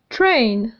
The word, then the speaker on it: train: train. في وسط الكلمة ننطق A train لننطق الكلمة ببطء.